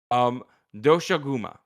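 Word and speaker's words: Doshaguma: let me go ahead and make sure I pronounce his name properly because he deserves respect. Doshuguma.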